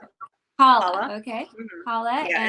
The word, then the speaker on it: challah: Oh my goodness, I the can't challah, pronounce it. Challah, challah.